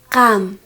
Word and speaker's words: qam: Tú, kam.